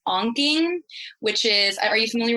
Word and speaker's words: Ankh: I'll also sometimes use what's called onking, which is, are you familiar with onking? Now, how do you spell it? It's Ankh. It's like the Egyptian Ankh.